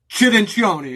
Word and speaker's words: Cirincione: Cirincione, if you want to pronounce it in Italian.